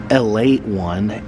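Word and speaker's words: Ale-8-One: Here is Elate one. You can see it's spelled A-L-E-8.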